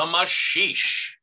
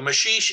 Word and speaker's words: maxixe: the tango so the masheesh um the apparent uh mismatch between how that word is spelled and the way it's pronounced is due to its brazilian roots it's a portuguese word the mashish is a predecessor of